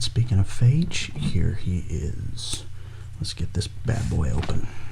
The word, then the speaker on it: Phage: it up off camera google pronounces it phage and then there's a uh it's something called bacteriophage phage bacteriophage and it's a bacteria and they pronounce it like that so i'm going with phage until i hear otherwise but phage he comes